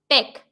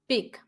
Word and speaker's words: peck: Because E makes a sound of A, not E. So it is peck, not pick.